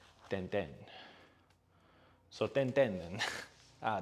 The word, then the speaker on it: Tintin: Is said like the E in Emma. Ten ten.